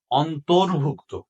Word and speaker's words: অন্তর্ভুক্ত: আসলে এটা কি হবে, অন্তর্ভুক্ত। তাহলে এখানে আমরা লিখবো অন্তর্ভুক্ত। এখানে একটা জিনিস মনে রাখবা, রেফ যেখানে হয় তার আগে র উচ্চারণ হয়। যেমন অন্ত, যে অন্তরের পরে র হবে।